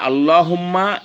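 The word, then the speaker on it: اللّٰهُمَّ: লামে আল্লাহর ডাইনে যদি জবর অথবা পেশ থাকে তাহলে ল হবে। আমি আবারও বলি, যেমন এই যে আল্লাহুম্মা, এইখানে লামে আল্লাহর ডাইনে দেখেন জবর আছে, তাহলে এখানে আমরা আল্লাহুম্মা বলবো।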